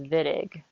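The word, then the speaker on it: Wittig: A lot of people want to call it the Whittick reaction, but it's German and it's pronounced Vidiq.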